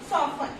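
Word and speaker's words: soften: Okay, तो क्या है, ऑफन, सॉफन. ओके, तो इसमें क्या है, T यहाँ पे भी क्या है, FT वर्ड का यूज किया है तो इसमें क्या है, T क्या है, साइलेंट है.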